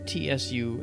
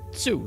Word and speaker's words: Tsu: And she says, "It's Tsu." Tsu, not Sue, but Tsu. So you actually say the T.